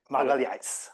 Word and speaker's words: Milhazes: designer whose name I will not venture to pronounce, but you can correct me, but Magalhães. Magalhães.